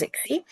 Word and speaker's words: ICSI: go ahead and do Ixie. Again IVF is still um can be still used. Um if I spelled ICSI but it's pronounced as Ixie.